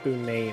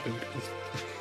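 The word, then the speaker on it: Bunet: It's pronounced Boonay, not booty.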